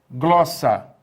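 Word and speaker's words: γλῶσσα: Então, aqui você tem a palavra glossa. A palavra glossa, note bem, glossa, ela tem duas sílabas, glossa, e o acento está justamente na penúltima sílaba.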